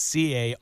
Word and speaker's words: Carrell: It's not spelled like the lady's name. It's Carrell.